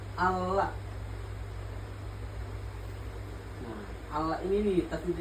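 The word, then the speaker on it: الله: Contoh kayak ini nih, dibacanya Allah. Nah, Allah ini nih, tasdid ini nih. Jadi tadi dibacanya double.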